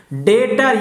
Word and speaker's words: debtor: डेटर याद रखिएगा, ये बी साइलेंट होता है, यहाँ पे डेटर पढ़ेंगे, बिल रिसीवेबल।